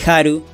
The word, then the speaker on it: HAL: el 6, los cuales al combinarlos se lee Haru, y esto, amigas y amigos, es como se pronuncia Hal en japonés y por eso está en todos lados.